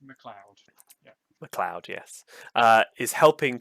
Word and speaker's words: McLeod: can't read, Jamie McLeod, It's pronounced McLeod.